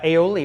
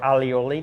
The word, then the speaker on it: aioli: spain and then uh aioli or alioli depending on on who you're you know who's pronouncing it so both mayonnaise and